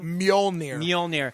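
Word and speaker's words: Mjölnir: We don't know how to pronounce the it. Mjolnir.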